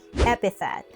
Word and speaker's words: epithet: The stress is on the first syllable. Now listen and repeat after me. Epithet.